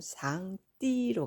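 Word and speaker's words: 上帝: 누구십니까 당연히 상제는 분이시죠 중국어 발음은 상 띠로 갑니다 자 이분 위에는 통치자의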